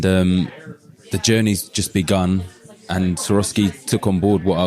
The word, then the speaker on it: Swarovski: I didn't even know the correct pronunciation of this until just now. I always thought it was Swarovski art.